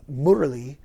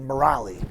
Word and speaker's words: Murali: given a spiritual name Mur which is how they pronounce it in in India and Mur is the